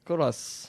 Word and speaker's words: Colas: Good Morning Toulouse, Colas. Bonsoir. Ça se prononce bonsoir. Colas ou Colas? C'est moi. Cola, oui, on prononce pas Cola. le S bizarrement.